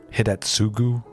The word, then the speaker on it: Hidetsugu: Hidetsugu, yeah, that's how you pronounce it.